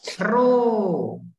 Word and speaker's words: rho: salah, makanya aku menyuruhmu untuk membacanya. Sungguhan kan? Rho.